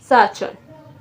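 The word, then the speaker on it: 사촌: हम कहते हैं स च ओ एन न सा चन सा चन ठीक है अब हमारे पास लास्ट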